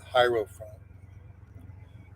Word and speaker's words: hierophant: Hero or I guess you pronounce it hierophant.